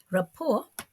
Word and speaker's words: rapport: meanings to list here rapport retains its french pronunciation in english unlike report in which